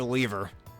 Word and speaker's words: lever: Not a question of the day, but do you say lever or lever? I know it's pronounced lever, but I kind of like saying lever just for fun.